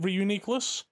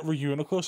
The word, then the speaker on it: Reuniclus: yeah it is funny also is it Reuniclus or Reuniclus the first one the the former I don't think I ever I've ever heard anyone refer to it as runas I used to call it runas but then I started calling it Reuniclus and then I realized wait this name's so much better I need a like